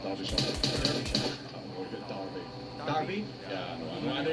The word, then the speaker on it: Derbyshire: Or is it Derby? Derby? Yeah, I know it's Yeah, an you know what, man. I know it's an E, but pronounce it an A.